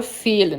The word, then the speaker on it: fehlen: não, a gente aprendeu a palavra fehlen, não foi stillen, não. A palavra fehlen, que eu tenho o H depois do E, alongando a vogal.